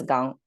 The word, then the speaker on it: 纲: And the right side is the sound maker, pronounced as gang, and same sound, same strict transfer.